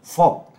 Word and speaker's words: Vogue: Vogue di Dibacanya Jakarta ya? Vogue. Oh, kira di Jakarta. Bukan, dibaca Vogue.